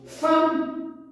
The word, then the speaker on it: femme: Nous avons femme. Qu'est-ce qu'on prononce? Femme avec A. Alors, le E se prononce A.